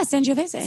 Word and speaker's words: Sangiovese: yeah, Sangiovese.